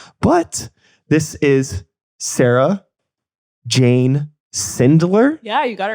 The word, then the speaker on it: Sindler: But this is Sarah Jane Sindler. Yeah, you got it right. I just wanted to make sure I pronounced it right.